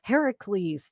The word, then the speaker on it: Heracles: from the Disney movie they call him Hercules right yeah that's not how you say it in the Greek just kind of like my name is key not keffy but that's another thing Heracles that's his or was